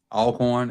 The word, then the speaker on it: Alcorn: Oh, Alcorn, not Elkhorn.